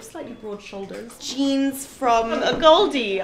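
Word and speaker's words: AGOLDE: Jeans from a Goldie. I never know how to say it, a gold or a Goldie. It's a Goldie. I've heard both a lot.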